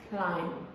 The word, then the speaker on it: climb: How do you even start explaining to someone why there is a B in a word, but you don't pronounce it?